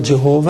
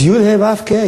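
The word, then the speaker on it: יהוה: You pronounce it like you pronounce any other acronym. CBS is CBS, not Sabosa, and not Subusi. CBS and NBC and CNN is an acronym. Yud Hey Vav K is an acronym.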